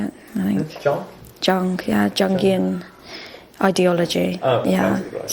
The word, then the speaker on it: Jung: He was a big fan of Jung, is that how you say it? I think. Jung, yeah, Jungian ideology.